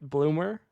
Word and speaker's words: Bloomer: himself the Z, like Bloomer, which is what his ingame is. And then in all caps in parentheses, the Z is silent. So, we'll go with Bloom.